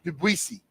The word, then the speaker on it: Ndubuisi: Debuisi. That's pretty good. Because normally the N is solid.